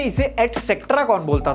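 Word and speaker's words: et cetera: तुम्हें पक्का पता होगी, लेकिन इसकी प्रोनाउंसिएशन में तुम पक्का गलती करते होगे, ये भी मुझे पता है। ETC भी एक लैटिन एक्सप्रेशन है जिसकी फुल फॉर्म होती है एटसेट्रा। ध्यान से सुनो, एटसेट्रा।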